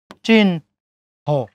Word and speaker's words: চিহ্ন: বন হি, চিহ্ন কি হবে? চস্কেরেছি, হর সাথে ন যুক্ত আছে, প্রথমে ন, তারপরে হ, চিন হ।